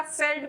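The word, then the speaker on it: veld: है जिसे वेल्ड या फेल्ड भी कहा जाता है। स्पेलिंग तो वेल्ड होती है बट उसको वी को प्रोनाउंस करते हैं एफ के जैसे।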